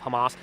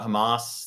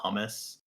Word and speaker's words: Hamas: he uh he was talking about Hamas the city but he kept pronouncing it humus yeah Trump is under